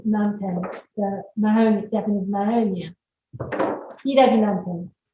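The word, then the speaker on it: ヒイラギナンテン: Hiragi nanten would be the correct way to say in Japanese.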